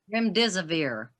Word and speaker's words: Remdesivir: How do you pronounce that? Remdesivir, Remdesivir.